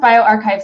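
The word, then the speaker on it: bioRxiv: were talking about on bio our xiv it's pronounced bio archive so that's the print and it's since been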